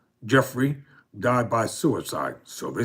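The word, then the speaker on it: Giuffre: Ms. Goffrey, pronounced Jeffrey, died by suicide, so they say, according to a statement by the family.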